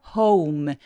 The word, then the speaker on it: home: he returns home 그리고 홈이 아니라 home home 얘도 이중 모음이라 어까지까지 반드시 느껴지게 해 주세요 when he returns home